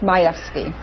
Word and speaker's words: Majewski: My last name is pronounced Majewski.